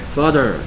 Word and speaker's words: father: 발음 먼저 하고 Father 그래서 F.A. T.H.E.R. 그렇죠. T.H.가 내는 소리를 어떤 식으로 내는지 T.H.가 나오면 혀를 살짝 물면 돼요. Z나 Th 소리를 갖고 있어요. T.H.가 나오면 혀를 살짝 물고 소리를 낸다 하면 돼요.